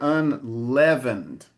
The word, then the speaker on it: unleavened: it would open up the E like something like saying, but in this case it's a more closed E, so it's unleavened.